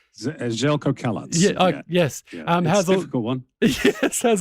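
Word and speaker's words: Željko Kalac: of course a former Sakuri legend and uh and Zelco Zelk did I pronounce that correctly? Zelco Kalat.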